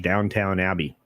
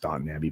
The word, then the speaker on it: Downton Abbey: Because believe it or not, I actually tried to watch Downtown Abbey. I know it's pronounced Downton Abbey, but let me tell you, that was not good.